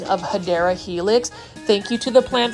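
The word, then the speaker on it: Hedera helix: that are new to this channel I say hedra Helix um intentionally because that's how I used to pronounce it it was really a mispronunciation of hadera Helix thank you to the plant foldy for you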